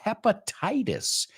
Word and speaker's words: hepatitis: You say hepatitis, right? La H lo pronunciamos. Hepa. Y los itis son itis in English. So bronchitis, conjunctivitis, hepatitis. ¿Ves un patrón ahí? Itis is itis.